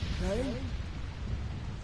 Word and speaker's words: Crane: Crane? Crane rhymes with train, and brain, and say, and grain, and rain, and plane, and the other kind of plane, and...